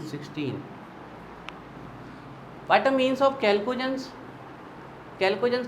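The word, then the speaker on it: chalcogens: चलिए तो फोर्थ डालिए, कैल्कोजेंस या चैल्कोजेंस, प्रोनाउंसिएशन आपका बच्चों जो आपको बोल रहा हूँ, कैल्कोजेंस। वैसे होता कैल्कोजेंस है, लेकिन इंग्लिश वाले अधिकतर लोग चैल्कोजेंस बोलते हैं, कैल्कोजेंस है ना।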